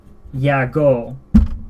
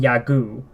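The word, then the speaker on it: YAGOO: CEO received the name Yago. In English, a lot of people will call him Yagu because, you know, goo. but in Japanese they'll say yago.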